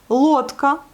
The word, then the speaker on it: лодка: Лодка, vous voyez, il est accentué et on le prononce bien le O.